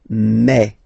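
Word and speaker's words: mes: So for the phonetical or pronunciation aspect of it then remember that this uh s here combined will give you the sound e. Okay. So you'll pronounce it like me. Me.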